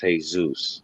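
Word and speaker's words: Jesús: the word jesus but if you say it in spanish it's hey zeus now if you take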